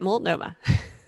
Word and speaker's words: Multnomah: I pronounced Multnomah properly, right? That is right. You did it exactly right. Multnomah.